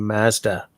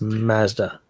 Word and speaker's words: Mazda: No, where Americans don't get it right is by mispronouncing Mazda. It's all Mazda. It's like no, it's not Mazda. It's Mazda.